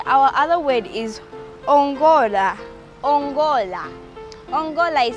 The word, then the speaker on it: ongola: Ongola. Ongola is spelled as O-N-G-O-L-A.